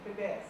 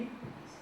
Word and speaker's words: IPBES: Nós somos inspirados na Plataforma Intergovernamental de Biodiversidade e Serviços Ecossistêmicos, a IPBES, que é a pronúncia agora oficial, PBS, é IPBES, que é o IPCC da biodiversidade, né?